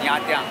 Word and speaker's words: Nha Trang: So guys, it's time to से good by two Ho Chi Minh city and get excited for यहाँ त्या, इट्स the correct pronunciation by द वे।